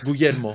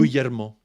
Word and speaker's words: Guglielmo: Can you tell me a way to pronounce it? Just Guglielmo. say it Perfect. again. Guglielmo.